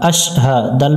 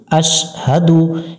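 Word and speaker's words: أشهد: আশ হা জবর হা আশহা দাল পেশ দু আশহাদু এখানে অনেকজনে ভুল উচ্চারণ করে আশহাদু অর্থাৎ সিনটার উপরে তাসদিদের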